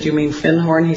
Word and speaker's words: Findhorn: Because I'd found a book called The Magic of Findhorn. And he corrected my pronunciation. He said, you mean Findhorn?